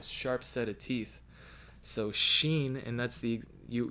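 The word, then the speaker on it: שין: and that's the you you need your teeth in order to pronounce the word Xin right it's the wind blowing through the teeth that is exactly the letter Xin or depending on the dot it could be a seen but anyway less Shan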